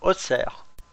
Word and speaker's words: Auxerre: Auxerre s'écrit Auxerre et se prononce Auxerre.